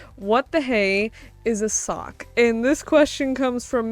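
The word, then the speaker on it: socc: s o c c so like suck but sock and it basically means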